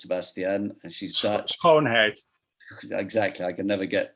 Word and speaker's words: Schoonheid: And, you know, some of the organizers, Fanny Schoenheit, whose name I'm still learning to pronounce, Sebastian, and she's Dutch. Schoonheid.